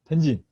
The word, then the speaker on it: 盆景: Okay, so, penjin, okay, and the Japanese pronunciation of Chinese characters bonsai. That's how the Japanese pronounce Chinese.